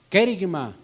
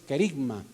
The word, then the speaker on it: kerigma: Ya hay una palabrita por ahí que algunos pronunciamos, decimos que la pronunciamos bien, hay dos maneras de pronunciarlo, es kerigma, la otra es kerigma, ¿sí?